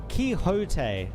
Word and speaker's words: Quixote: Someone told me how to pronounce this. Where was it? Quixote.